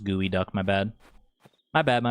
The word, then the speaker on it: geoduck: It's pronounced gooey duck.